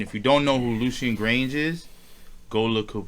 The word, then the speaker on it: Lucian: Lucian, Lucin, like almost like fucking Lucifer, like Lucian.